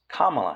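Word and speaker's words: Kamala: else which is incorrect and I noticed that Camala Harris is they're referring to her um as kamla Harris recently I don't really watch much news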